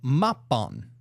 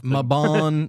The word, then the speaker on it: Mabon: I think we already said it like a few times wrong. Mabon, Mabon. No, it's Mabon. Okay. Mabon.